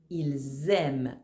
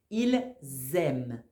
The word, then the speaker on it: ils aiment: réponse est ils aime ils aiment attention ici mon verbe commence avec une voyelle donc je dois faire la liaison quand je parle ils aiment attention aussi on ne prononce pas e nt tu t'en souviens non